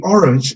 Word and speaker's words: orange: Orange es la primera sílaba de la palabra orange. Orange. Orange. Son dos sílabas. Nos concentramos en la primera.